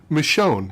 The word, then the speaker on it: Michonne: Michonne.